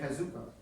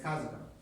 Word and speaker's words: Kazuko: In English, we want to say Kazuko. And it's Kazuko. All right? Because it's a 2-tone language.